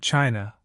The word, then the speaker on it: qi: In ancient China, health was never confined to muscles, bones, or tissue. It was about energy, chi, pronouncedqi, the vital life force that flows through every living being.